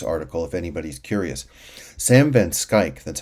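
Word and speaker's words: Schaik: strongly recommend this article if anybody's curious sam van skyk that's how you pronounce his name is one of the very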